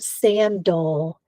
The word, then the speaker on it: sandal: Notice that the word sandal has a schwa in the second syllable. That A is not saying its short vowel sound. It's making a sound.